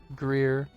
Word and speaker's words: Greer: Fae that Greer does not want here out of here? Is Greer one or two words? Or two syllables? Give it one. Greer. I said it in one.